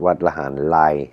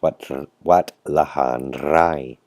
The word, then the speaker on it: Wat Lahan Rai: Not Wat Lahan Lai, like a lot of people in Singapore, Malaysia, Taiwan and Hong Kong like to say, because Thai people have a short tongue and most people pronounce the R like an L. It's Wat Lahan Rai.